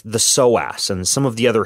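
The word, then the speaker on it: psoas: of time is that soas muscle and soas is spelled PS OAS if you want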